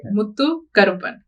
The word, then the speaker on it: Muthukaruppan: how do you so it's two parts right Mutu kupan Mutu means Pearl kupan kupan is black